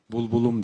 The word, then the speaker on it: Булбулум: Hay hay, bu bülbülüm, bulbulum diye telaffuz edilir Kırgız Türkçesinde.